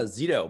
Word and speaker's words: Szeto: holding our presence am i saying it correctly uh zeto but yeah pretty much i mean yeah okay